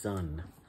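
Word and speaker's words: Sunn O))): heaviosity that is sun it's not pronounced sun oh it's just sun the parentheses are silent of course this is a record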